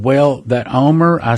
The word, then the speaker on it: Olmert: tongue were pronounced that Olmert but that's not the way they pronounce it in Israel and I've heard several